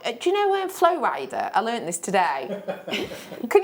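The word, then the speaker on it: Flo Rida: The name Flow Rider is just Florida. You see it? Yes! Yes! Yeah, it is. It's spelt Florida. It's just spelt Florida, but he pronounced it.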